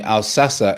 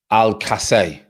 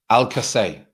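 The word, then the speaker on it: Alcácer: ryan has taught me al sassa is pronounced al casey right not al-sassa al-kasay okay so you you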